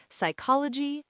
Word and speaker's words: psychology: Number five, P before S, N, or T is silent. Psychology, pneumonia, and receipt.